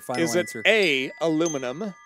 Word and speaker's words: aluminium: body flux capacitor final answer is it a aluminum B 10 C uh treated iron D stainless steel or E gold stainless steel Final Answer o aluminum I believe it's pronounced aluminium but thanks for playing I will go with